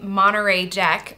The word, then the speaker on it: Monterey Jack: And also a spicy Monterey Jack.